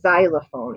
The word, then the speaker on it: xylophone: a lot of times when an x is at the beginning of a word you hear it with the z sound so it says z